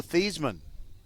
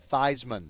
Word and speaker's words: Theismann: Your name is now pronounced Thiesmann." So, that's how you call Joe Theismann, Joe Thiesmann.